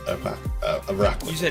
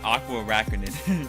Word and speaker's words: Araquanid: You're right, Araquanid. You said Aqua Araquanid. Yeah. I'm 50-50 on this name. I know what it is when I think about it, but I always mispronounce it if I don't.